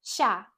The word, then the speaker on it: 下: In Chinese, it's pronounced xia.